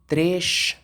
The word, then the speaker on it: três: زيرو، uma, dois, duas, três. لو تاخدوا بالكم حرف الاس في الاخر في البرتغال بيتنطق شين، لكن في البرازيل يتنطق اس.